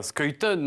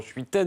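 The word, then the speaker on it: Schuiten: cet auteur c'est françois skytone on prononce comme ça quand on est belle je les français disent souvent suite elle mais on va dire skytone même auquel les amateurs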